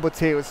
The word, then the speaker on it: Bucerius: Bucerius. Bucerius ausgesprochen, ja.